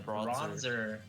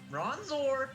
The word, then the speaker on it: Bronzor: off you're using a bronzer bronzer bronzor bronzord zorr not what is wrong with bronzer it's it's like the skin thing it's not the name it's bronzor why are you such